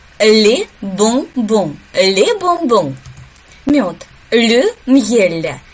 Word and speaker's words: bonbon: Также через нос произносим. Le bonbon. Le bonbon.